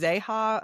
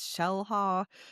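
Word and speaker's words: Xel-Há: I thought it was Zeha, or but my brother-in-law said it's Shellha.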